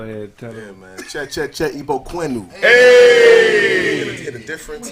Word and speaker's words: Igbo: Che, Ibu Quint. You don't even say it right. Ain't no you and Ebo Quentin.